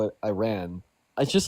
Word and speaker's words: Iran: And then the same thing with Iran. It's like you know that it's pronounced Iran, but then you turn around and you're like I ran.